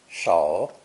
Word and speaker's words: 手: Our first example is the actual pictogram of a hand, pronounced with a third dipping tone. Shou, shou. All 5 fingers are represented.